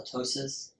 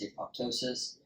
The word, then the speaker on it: apoptosis: apoptosis said that way so they call it a ptosis uh the p is silent I've always heard it as apoptosis have you ever heard